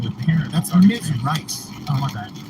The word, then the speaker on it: Rice: Rice. Oh, my bad. There's no way to misconstrue that as Ms. Riz. Riz. It's ICE. Ice. Or rice.